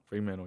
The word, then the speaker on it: Fremantle: week is that how I say it correctly Fremantle Fremantle yes why do you love um which would